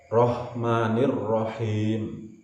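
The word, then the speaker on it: الرحمن الرحيم: Kemudian ha, him, rah diucapkan dengan hembusan nafas yang halus, yang seperti terdengar desisan ular. Him, jangan sampai mirip-mirip dengan ha. Rahmanirrahim.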